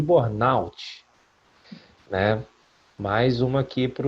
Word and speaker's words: burnout: A pronúncia correta é síndrome de burnout, né?